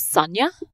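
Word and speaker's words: Sonja: about guys isn't it Sonia I'm sorry to jump in here well I I do the the countesses pronunciation which is Sanya okay I I appreciate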